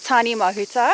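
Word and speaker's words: Tāne Mahuta: Pronunciation is Tane Mahuta.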